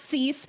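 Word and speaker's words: seis: It's pronounced cease, but it's just fucking six, dude.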